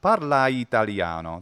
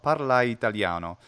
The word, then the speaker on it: parla italiano: Or parla italiano. Parlai, and the I is contracted into one syllable, but it's not parla italiano. That sounds a little off. Parla italiano.